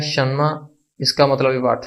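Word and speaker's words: 什么: तो इसकी प्रोनाउंसिएशन होगी शन्मा शन्मा शन्मा, यानी इसका मतलब है व्हाट, क्या।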